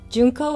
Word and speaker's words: Junko: Junko, it's spelled J-U-N-K-O, and I know it looks like junk with an O, but it's not. It's June with a K, because God don't make junk.